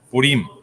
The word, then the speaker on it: Purim: sé si es purim o purim Cómo se pronuncia Ricardo purim Okay que es que es importante enfatizar en